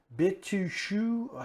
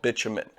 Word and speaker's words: bitumen: Bitushu. How do you say that again? So what we're looking at here is a natural formation of tar found in the earth called bitumen.